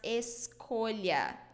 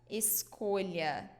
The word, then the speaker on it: escolha: So before the vowels A, O, and U, A, O, and U, we pronounce it with the sound K, K, okay?